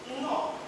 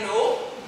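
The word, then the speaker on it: Nnọọ: And in my language, to welcome someone, we say, no. No? Like no? Come on. We say no. Okay. That's not no.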